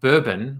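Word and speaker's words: Burbn: If Startup Bourbon, which is spelled B-U-R-B-N, had stuck to their party lines of where Yelp meets Foursquare, then Instagram would not have been born.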